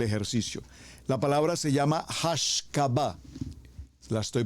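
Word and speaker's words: השקפה: La palabra se llama hashcaba, la estoy pronunciando en español, hashcaba. Bueno, así se pronuncia mejor en hebreo, hashcabá.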